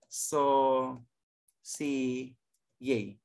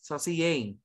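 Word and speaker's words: saucier: the sauce chef okay that you pronounce so see yay okay that's here pronounce it saucy oh yeah pronounce saucy yay this first one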